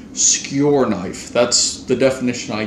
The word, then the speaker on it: skur: get into the video skure is Norwegian for shed so it's written skur SK you are but it's pronounced skure like your knife skure knife that's the definition